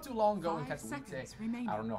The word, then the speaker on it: Katowice: versus Fnatic game not too long ago in Katowice, I don't know how to pronounce that. Katowice?